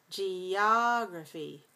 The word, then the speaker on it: geography: word geography yeah yeah make sure you don't have a glottal stop here geography geography gr grow weak vowel schwa geography person geographer geographer adjective